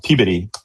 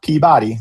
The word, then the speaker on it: Peabody: Um our uh in the game location up in in uh Peabody, is which is how you say it, near Boston, not Peabody. That's how you want to say it. Don't say that.